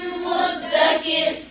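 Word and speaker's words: مدّكر: تركناها آية فهل من مدكر ولقد تركناها تا के ऊपर क्या है तो वो तशदीद का क्या करेंगे काफ को ता के साथ मिलाएंगे दाल जो है यहाँ पर साइलेंट हो गया फिर से पढ़े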